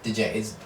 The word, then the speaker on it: Django: seem to take yeah you say dude django DJ I say django I thought it was DJ I said I'm thinking I think it's Django I've heard it pronounced both ways but yeah I mean